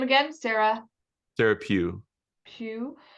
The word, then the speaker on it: Pugh: And and after listening, you guys have to listen to this, but say the name again, Sarah Sarah Pugh, Pugh. How do you spell it?